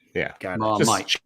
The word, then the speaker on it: Marmite: When you spell Marmite, it has to be MIGHT for Marmite. Just trademark. I see. Yeah. Okay. You got it. Say it again. Just like mighty. Yeah. Marmite.